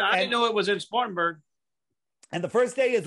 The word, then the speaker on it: Spartanburg: yeah where we're at spartansburg spartansburg south carolina what well you got the first thing you got to do is learn how to say it spartanburg whatever you southerners all